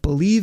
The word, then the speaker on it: Bleav: That's Believe in Lions. It's spelled BLEAV in Lions on the Believe Podcasting Network, as well as, like I say, reach out to me on Twitter.